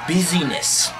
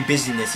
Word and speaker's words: busyness: production and intro to busyness which is not actually business it's business if you didn't catch that busyness not business business you know it's